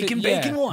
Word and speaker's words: MAKN BAKON1: I want to say Making Bacon one. Making Yep. Bacon. But I was want going to to say spell it for Mac people, and you know?